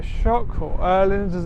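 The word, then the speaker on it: Öhlins: sports bike which is quite woring fully adjustable Orland Forks fully adjustable Orland R shock or earland as it's technically pronounced Brembo brakes acrapovic cast Wheels T they're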